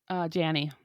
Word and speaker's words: Janney: Allison Janney or Janie. How do you say her last name? Janie. Perfect.